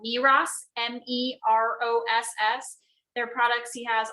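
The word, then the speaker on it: Meross: of my stuff so the his tablet doesn't pronounce the name quite right it's called miras m-e-r-o-s-s their products he has all throughout the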